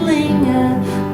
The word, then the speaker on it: linger: Now pronunciation wise, there's one thing that a lot of people don't realize that this is not as, this here is not a gur in either of these. Linger. Linger. Linger.